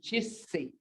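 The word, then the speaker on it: cesse: G, as in chissi. When you got two letters like this together, you have to enunciate both of them.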